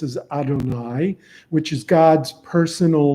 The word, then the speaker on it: Adonai: Torah uh one is yud V which we pronounce as Adonai which is God's personal name okay and the